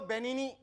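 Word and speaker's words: Benigni: तो कहता हूं कि रोबोटो बेनी बेनी उसके नाम में जी है जी साइलेंट है क्या जी जी साइलेंट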